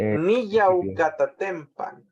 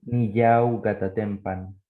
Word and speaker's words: Niyaucatatempan: Sí, Niyaucatatempan. Niyaucatatempan. Niyaucatatempan. Niyaucatatempan. Niyau, niyau. Como hay una I y una A, hay que romper ese diptongo.